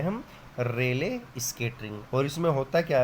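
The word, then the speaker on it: Rayleigh: Such type scattering of लाइट known as, पढ़ो इसका नाम क्या है, करना प्रोनाउंसिएशन इसका एक बार, क्या हुआ? इसको बोलोगे रेले, ठीक है ना। तो such type scattering of लाइट known as रेले scattering, नाम याद रखना इसका, रेले, रेले स्केटरिंग।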